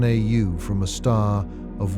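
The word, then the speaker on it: Sagittarius A*: It was named Sagittarius A, pronounced A star, in 1974.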